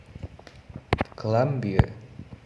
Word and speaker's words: Columbia: The beats of the following sentence fall on the words I like and the second syllable of Columbia. Columbia.